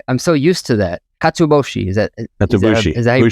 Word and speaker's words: katsuobushi: Katsuobushi, is that Katsuobushi. Is that how you pronounce it?